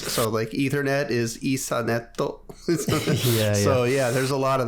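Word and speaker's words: イーサネット: just the English word turned into the Japanese pronunciations. So Ethernet is Isaneto.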